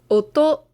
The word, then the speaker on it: 音: One is oto. Oto is a word meaning sound. So this kanji, when we see it by itself, is oto.